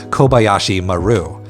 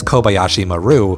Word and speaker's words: Kobayashi Maru: media being Star Trek's Kobayashi Maru which I am going to say as Kobayashi Maru because that's how Star Trek culture pronounces it even though in Japanese it should be kobayashima so creating simulations based